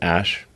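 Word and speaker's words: Æ: I mean, it's just X, the letter X, and then the AE is like pronounced Ash.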